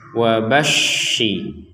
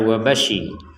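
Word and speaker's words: وَبَشِّرِ: Tasydid yang seperti ini artinya kita harus ada penekanan di huruf yang di atasnya ada tasydid ini. Jadi kita bacanya wabashi. Jadi tidak sekadar wabashi.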